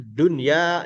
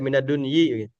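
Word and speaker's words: دنيا: Misalkan minad dunya tetap aja tidak minadunyi dia seperti itul mabdi ya kedudukannya ya secara bacaannya begitu. Jadi kedudukannya bisa beda-beda tapi cara bacanya tetap dunia.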